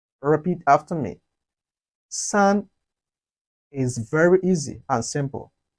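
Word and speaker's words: 四: chinese is pronounced as sun repeat after me sun is very easy and simple for in chinese is pronounced as su repeat after me su it has a falling tone of chinese language the following tone which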